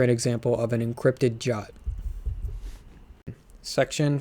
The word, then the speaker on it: JWT: of claims that a i'm going to call jwt jot they um suggest doing that earlier in this and i like that because it's a single syllable so from now on